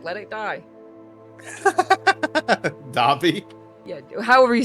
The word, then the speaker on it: Dobby: Dobby? Yeah, however you say his name. It's Dobby.